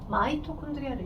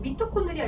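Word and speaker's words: mitochondria: 예전 교육과정에 최근 이제 영문을 그대로 한글로 옮기다 보니까 마이토라고 쓰는 게 현재는 맞고, 예전에는 미토콘드리아 이렇게 표현했어요. 미를 마이라고 읽은 거죠. 미를 이렇게, 그죠? 미를 마이로 읽는 것 뿐이야.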